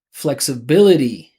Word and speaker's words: flexibility: So these words that finish with ITY, they all have the same rhythm pattern. Flexibility, scalability, mentality. So you see, I'm emphasizing the syllable before the ITY.